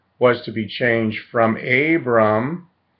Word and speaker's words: Abram: The 12th provision was that his name was to be changed from Abram. In Hebrew, it would be pronounced Avram. A and B in Hebrew are the same letters. Avram or Abram to Abraham or Avraham in Hebrew.